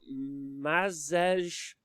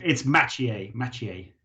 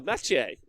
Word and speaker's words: Maciej: Next up, you got Mazej. I'm so sorry. Mike Wazowski's playing. And I apologise for not being able to say your name, but if you do message me and let me know how to say it, I'm obviously... It's Maciej. Oh, Maciej.